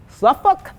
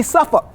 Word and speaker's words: Suffolk: Suffolk, depends on where you're from in this country, how it's said. In the South, it would be Suffolk.